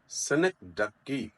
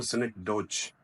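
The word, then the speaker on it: synecdoche: Pakistan so सिन डकी remember सिनिक डकी इट्स नॉट सिनिक डोज एज it seems another word is ई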